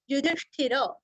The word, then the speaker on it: युधिष्ठिर: युधिष्ठिर उवाच, यहाँ पे भी तीनों रस्व है। युधिष्ठिर, ष्ठ का भी उच्चारण हमें अच्छे से करना है।